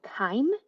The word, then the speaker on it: chyme: At this point, once the food has left the stomach and it has entered the small intestines, it's called chyme. That's spelled C-H-Y-M-E, chyme.